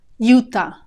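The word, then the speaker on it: Utah: if you'd like that UTA UTA notice the initial sound Yuta juta and our final state is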